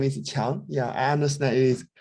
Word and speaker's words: Chiang: My name is Qiang. Yeah, I understand it is extremely difficult to pronounce.